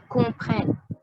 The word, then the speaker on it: comprennent: jamais never jamais never ent silencieux it's silent je le vois je